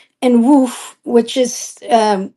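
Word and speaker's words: Łódź: of 194 2 and woof which is um it's spelled l o DZ but um in Polish you say woof I don't know and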